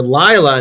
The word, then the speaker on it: Laya: am playing the character Laya not Leila Laya rhymes with smila um I don't know that doesn't help uh but it's not Lea it's lla uh so now we